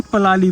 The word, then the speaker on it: पराली: Actually इसको पराली बोलते हैं ऐसे, लेकिन हम लोग जो है वो जब हम अपनी लैंग्वेज में इसको प्रोनाउंस करते हैं ना तो इसको हम पलाली बोलते हैं।